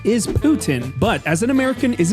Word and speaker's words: poutine: I just found out that's the way you pronounce it, too. Putin. I always said poutine. Now, I understand this is a French dish and the correct pronunciation is Putin, but as an American, is it really wrong if I say poutine?